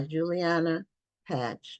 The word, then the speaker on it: Juliana Pache: It's by Juliana Pache. That's how she pronounces it.